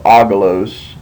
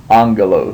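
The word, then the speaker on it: ἄγγελος: is two gas together when you have two gas together the first GMA will take an n Sound and then your second GMA retains the the G sound and so instead of aalos that would be angalo this is just one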